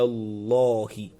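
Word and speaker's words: الله: So whenever you see Allah's name and the letter that comes before it is having fatha, automatically you pronounce it as law, not la. Ala Allahi, ala Allahi kadhiba, ala Allahi kadhiba.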